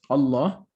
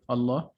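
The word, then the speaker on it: الله: when is it skipped it is pronounced when you start the word and it's skipped when you are connecting it to the previous word okay for instance allah so in this word allah the hamza is pronounced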